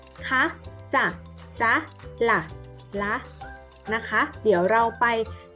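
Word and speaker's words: นะคะ: คำ ว่า นะ คะ นอ หนู สระ อะ คอ ควาย สระ อะ ออก เสียง ว่า นะ คะ เด็ก ลอง ออก เสียง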